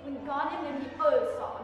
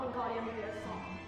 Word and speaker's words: Wingardium Leviosa: It's Wingardium Leviosa, not Wingardium Leviosa.